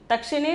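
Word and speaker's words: दक्षिण: Then the fourth one is Dakshin. Okay, Dakshin. Dakshin is pronunciation.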